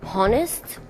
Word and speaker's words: honest: Oh, I will tell him to be honest. Did you say, what did you say? I would tell him to be honest. Senza non pronunci l'H. Honest.